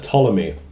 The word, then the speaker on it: Ptolemy: Next question comes from @Brother Ptolemy. Your favorite fictional universe from anything, games, movies, books, etc. If you are doing pronunciations, the P is silent.